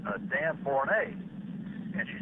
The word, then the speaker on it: Borne: some concern that when people would hear your name pronounced Borne, that they might get you confused with the name Barnes.